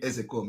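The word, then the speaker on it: Ozekhome: Ezekome is the pronunciation. A lot of people don't know. You know, they come and they pronounce his name and adding Ke, Ezekome. And they say, it's Ezekome. It's not Ezekome.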